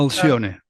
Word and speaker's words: Alcione: Is it the Alcione? Uh, Alcione. Alcione. Alcione Yes.